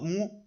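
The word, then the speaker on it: 木: El segundo ejemplo pronunciado mu, significado árbol en la antigüedad y representa de manera estilizada el tronco, la copa y las raíces del árbol.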